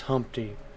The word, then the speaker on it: Humpty: me to introduce myself my name is humpty pronounced with an umpty one normal isn't what it